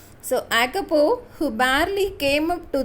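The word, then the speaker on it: Jacopo: Here J is silent. So Acopo, who barely came up to the door handle of the car, was nearly 12.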